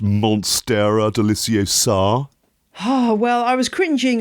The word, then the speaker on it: monstera deliciosa: the most dramatic and mind-boggling of all is monstera deliciosa oh yeah actually i think you'll find it's pronounced monstera deliciosa oh well i was cringing a little bit